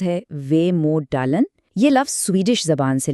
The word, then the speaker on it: Vemödalen: لیے ایک لفظ ہے ویموڈالن۔ ویموڈلن، اس کا تلفظ ہے ویموڈالن۔ یہ لفظ سویڈش زبان سے لیا گیا ہے۔